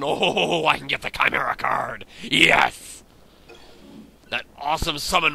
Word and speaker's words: chimera: or Chimera I get I always said chimra but apparently it's properly pronounced Chimera so I will be